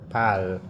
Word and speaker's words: parle: Je parle. So the E there is just like silent. Don't pronounce it.